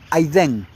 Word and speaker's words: Edén: Y la palabra Edén en el hebreo es la palabra 5731 que que se escribe Edén, se pronuncia aidén, que significa la región del hogar de Adam.